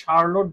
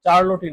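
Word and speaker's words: Charlotte: এটা Carroll Brontë না, এটাকে বলে শার্লট ব্রন্টি, মাথায় রাখবেন। শার্লট, চার্লটই না, শার্লট ব্রন্টি, উচ্চারণটা হচ্ছে শার্লট।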